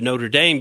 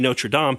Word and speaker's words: Notre Dame: know just roll into Notre Dame because that to me is like you say when you read it that's what it says but you're exactly right the correct pronunciation should be no sure DOM and that kind of